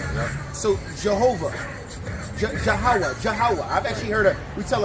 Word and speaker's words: Yahweh: It's ha and wa.